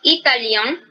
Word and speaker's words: italien: Entonces, en masculino es italien, es más nasal, y en femenino italien, simplemente.